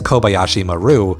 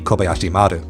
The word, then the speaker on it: Kobayashi Maru: Star Trek's Kobayashi Maru, which I am going to say as Kobayashi Maru because that's how Star Trek culture pronounces it, even though in Japanese it should be Kobayashi Maru.